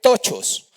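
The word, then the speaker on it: πτωχός: voy a deletrear, P, pone la P primero y luego escribe tochos, porque es difícil de nombrar. Tochos, pero con la P primero, como se escribe psicología o psiquiatría, la P y luego escribe tochos.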